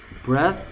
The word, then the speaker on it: breath: breath, breathe. bath, bathe. 됐습니까? th의 발음이 얘는 번데기 발음입니다. bath. 얘는 똑같이 혀를 무는데 z 발음입니다. bathe. bath, bathe. 얘도 breath, breathe.